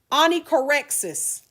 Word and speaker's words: onychorexis: Onychorexis, and the way it's pronounced doesn't really show up in the way it's spelled, right? Because it's smack dab in the middle of that word. We've got chore, rexis, right?